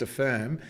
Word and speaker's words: APHIRM: At La Trobe, you've done some great work developing a participative hazard identification and risk management toolkit known as Affirm, APHIRM, but pronounced Affirm.